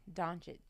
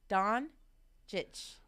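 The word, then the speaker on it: Dončić: Doncic. Luka what? Doncic.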